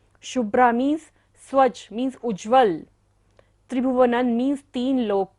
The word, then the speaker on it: त्रिभुवनं: शशांक कला कलाप शुभ्रा गुणास त्रिभुवनन बिंदी के बाद क्या है, त वर्ग है तो बिंदी को उच्चारण क्या होगा, न। त्रिभुवनन शुभ्रागुणास्त्रिभुवनन तव लंघयन्ति।